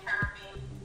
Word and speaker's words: Caribbean: Usually quote unquote Americans say Caribbean. And it's like, no, it's Caribbean.